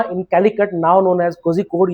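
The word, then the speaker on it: Kozhikode: Calicut, now known as कोझिकोड या कोड़िकोड बोलते हैं उसको। इसको जेड को मलयालम में अड़ाप, कोड़िकोड, समझ आ गया। इंग्लिश में ज प्रोनाउंस होता है, ठीक है ना।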